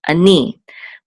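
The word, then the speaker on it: אֲנִי: And so we know that the accent is on ni, ani, which means I.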